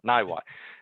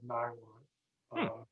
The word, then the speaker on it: Niwot: Niwot. I'm overstressing it. Niwot. It's just Niwot.